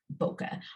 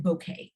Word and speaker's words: bokeh: to share with you is boca i've also heard it called bouquet i've heard it a couple of different ways but however you'd like to pronounce it it is just in